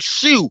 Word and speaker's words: Shu: and Tony Shu says say my name like shoe like the shoe he said it on